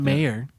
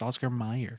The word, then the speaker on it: Oscar Mayer: they think that what does the way it's pronounced Mike it's not mayor it's Oscar Mayer yeah yeah no that is odd though because